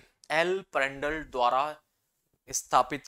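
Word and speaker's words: Prandtl: है एल प्रेंड प्र डट बट टी इसमें साइलेंट होता है ठीक है पेंडल थ्योरी जो कि जनक है जनक मतलब जो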